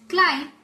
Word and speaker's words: climb: Then, in these words, we don't pronounce B. It's climb and bomb.